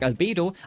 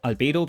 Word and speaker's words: Albedo: and a villain like Albedo. I like to say Albedo because that's how it would be pronounced in German, but in English it's obviously Albedo, but Bedo sounds like Speedo, and he would wear